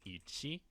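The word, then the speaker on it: 一: should be pretty self-explanatory but the way it's pronounced in Japanese is Ichi and finally the last character here is going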